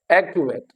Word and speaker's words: activate: And जो है किस पे आ रहा है, एक पे, activate, activate, okay। Act would be more prominent, and the last one is ul, the last one is ul, okay।